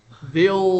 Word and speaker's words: they'll: You see, three L's. Three L's. They'll last. You pronounce it a bit like that. They'll last. It becomes one long L.